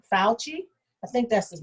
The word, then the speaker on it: Fauci: fucci the doctor the doctor fuji if i'm pronouncing it right fauci i think that's his name from yeah the